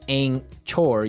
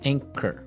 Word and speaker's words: anchor: So, you don't say ankor. You would say anchor.